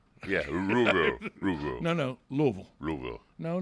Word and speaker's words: Louisville: And still to this day, upset he never got to play basketball at Louisville. Oh, well, hey. And I even said it right. Yeah, Louisville.